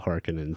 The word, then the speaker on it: Harkonnen: I pronounce it Harkonnen. I think people do both ways. I think in the movie they went with Harkonnen, but Harkonnen is always how I read it, so it's kind of hard for me to overwrite it in my mind.